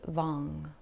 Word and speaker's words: Vam: And as I was saying, the seed mantra is Vam, V-A-M, but it's pronounced Vang, V-A-N-G.